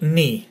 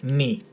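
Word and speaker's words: νι: And then moving on to the, excuse me, don't know what happened there with my voice, to the word knee. That's the correct name, knee.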